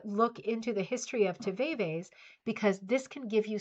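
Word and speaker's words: tivaevae: The answer is tve. And that is spelled t i v a e v a e.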